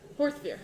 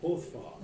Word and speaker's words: Horthvar: First of all, now that we're restarting this campaign, I would like to file a motion for us to all say his name correctly, and it's pronounced Horthvar. Bar.